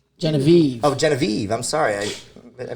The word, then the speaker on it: Genivive: and i also have jenny v genevieve oh genevieve i'm sorry i i mispronounced that earlier um you guys are hailing